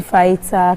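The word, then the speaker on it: fajita: So we are making chicken fighter casadia. Chicken what? Fighter. F A J I T A. Oh, but the J is silent.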